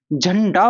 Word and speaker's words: झंडा: अब ये झंडा, झंडा, झंडा, अब हम देख लो ना, अब हम उच्चारण की दृष्टि से देखते हैं, झंडा बोला जाता है, झंडा नहीं बोला जाता, झंडा।